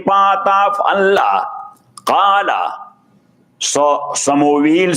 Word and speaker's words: Samuel: Samuel alayhi salatu wasalam, S-A-M-U-E-L. Samuel. In Arabic, we pronounce it Shamuel. But in Testament, he is Samuel.